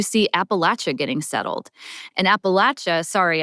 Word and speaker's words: Appalachia: And Appalachia, sorry, I say it like the South, we can say Appalachia.